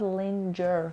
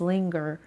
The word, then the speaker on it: linger: It's not linger, guys. It's linger.